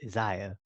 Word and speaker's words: Isaiah: moment where I realized there's no e in Isaiah so it's not pronounced Isaiah it's Ziya so just it's had